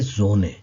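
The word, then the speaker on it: Sonne: सबसे पहले है जोने, इसको पढ़ेंगे जोने।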